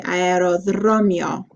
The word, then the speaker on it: αεροδρόμιο: So it's dro, mio. Okay? So mio. Okay, aerodromio.